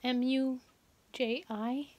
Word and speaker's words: Muji: it's a store called moochie i hope i'm pronouncing it right is m u j i muji and um my husband uh addicted me